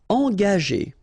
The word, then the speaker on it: engager: Engager, okay, so remember that G is a tricky